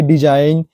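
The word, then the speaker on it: design: है यहां पर सब एन से पहले जी आया है जी साइलेंट रहता है आप पढ़े भी होंगे डिजाइन रिजाइन साइन जो हमेशा करते हैं कैंपेन है फॉरेन है वो जो है हमारा साइलेंट ही रहता है चलिए नेक्स्ट रूल देखते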